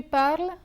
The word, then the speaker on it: parles: Je parle, tu parles, il parle, elle parle, nous parlons, vous parlez, il parle, elle parle.